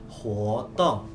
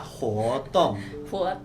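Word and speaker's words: 活动: Nah, kegiatan di bahasa Mandarin itu kita bacanya hotong. Sekali lagi ya, hotong.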